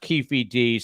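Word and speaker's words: Keffe D: it with two F's and one e so Cafe D but it's pronounced kiefd said plenty of time he was in the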